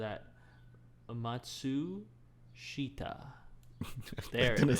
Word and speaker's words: Matsushita: I'd also say September Rain by Makoto Matsushita. I totally butchered that. Matsushita.